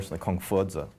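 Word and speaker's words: 孔夫子: named after its founder confucius which in the chinese pronunciation is actually kongzha or or or kung fudza kongsa and we only have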